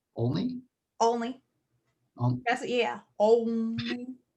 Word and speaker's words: Olney: pronunciation? Only?